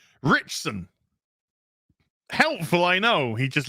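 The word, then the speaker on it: Ritchson: with the five dollars his father said it's pronounced richson helpful i know he just literally just spelled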